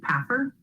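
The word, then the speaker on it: PAFR: to go back to the paffer uh is how you pronounce the acronym the popular annual financial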